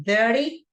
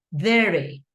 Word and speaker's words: dirty: You can say dirty in North American English, that people in England, they pronounce like with more emphasis the T.